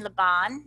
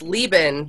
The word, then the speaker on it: Leban: Bruce writer and Lebon is that did I say your names correctly it's it's Leoben but um I am